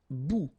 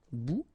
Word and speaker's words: bout: Un bout. Remember, final T not pronounced. Un bout.